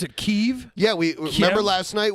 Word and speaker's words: Kyiv: do you pronounce it keeve yeah we remember last night we learned that kiev is the way the ukrainians say it and kiev is the way that russians say it well then i'm the